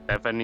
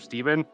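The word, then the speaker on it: Stephen: Well, apparently some people say Sim's name wrong as Stephanie instead of Steven.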